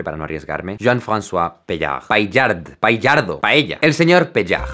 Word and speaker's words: Paillard: Le pido a mi primo que lo pronuncie para no arriesgarme. Jean-François Paillard. Paillard.